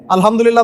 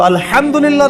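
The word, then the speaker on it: الحمد لله: আলহামদুলিল্লাহ ভালো আছে। তো আলহামদুলিল্লাহ না বলে সে বলেছে আলহামদুলিল্লাহ। তো যে হায়ের উচ্চারণ পরিবর্তন হয়ে গেছে, এই কারণে অর্থ পরিবর্তন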